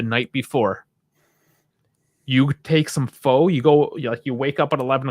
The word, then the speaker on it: pho: Have you ever tried pho? And I know it looks like pho. You do pronounce it pho.